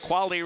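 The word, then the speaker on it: Quale: KV A L E is the spelling of Quali Real Estate. Tessa, the Buffalo High School goalender. Her last name is spelled with a Q. Qu U A L E, but they're both pronounced quali.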